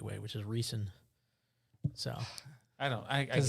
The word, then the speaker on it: Riesen: cool did you hear me on stat it's rising but we do i do pronounce it incorrectly like bad moon horizon so